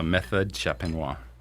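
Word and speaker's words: méthode champenoise: Champenois. Is that how you say it? Yeah, method champenois.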